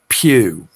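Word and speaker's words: Pugh: it's it's spelled okay it's spelled p u g h right so that's Papa uniform Golf Hotel Pew right pew pew but if you pull it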